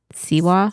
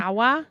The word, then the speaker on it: Sawa: his name Devon Devon sewa I think it's sewa something like that Sawa yeah s a w